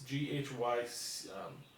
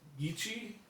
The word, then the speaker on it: Gychee: Now, the pronunciation of the actual company's model is a little bit difficult. It's Gychee, so like Gychee.